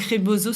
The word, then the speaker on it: rebozo: ce type de soin donc c'est vraiment donc reboso ça s'écrit r E B O Z Z je